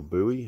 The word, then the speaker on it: buoy: the shop now this little boy here or buoy as the americans say i'll photoshop that out